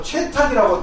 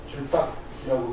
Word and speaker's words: 줄탁: 이제 많이 하고 그러는데, 뭐 최탁이라고 또 아마 한자로 좀 이렇게 쓴다요, 최리로. 예, 뭐 채탁이라고도 이렇게 되어 있는 경우가 있습니다. 그렇지만 일반적으로 발음상에 있어서 줄탁이라고 그렇게 이야기를 하고, 이렇게 그 입구자로 이렇게